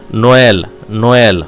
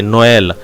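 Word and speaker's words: Noël: If you find any accent trema like e, you should separate that word.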